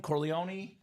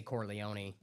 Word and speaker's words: Corleone: Is it Corleó? Corleone. How do you say it? Whatever. I mean, either one. I've heard either. Okay. Corleone. Corleone. In the movie they say Corleone.